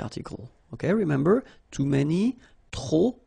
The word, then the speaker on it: trop: Okay, remember, too many, trop, don't pronounce the final P.